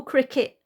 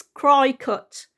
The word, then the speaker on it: Cricut: but it's a little Cricket that's why I kept calling it a cricket it's got nothing to do with that spelling it's cry cut c-r-i-c-u-t okay sorry if I